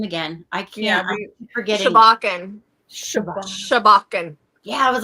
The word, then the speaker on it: Sobjakken: Shabbakan. Shabbachan. Yeah. I was like, it's forgot it was like the S sound in it. Yeah. Like, but Shabbachan. Yes, exactly, Mandy. That's how we remember it. But Shabbakan.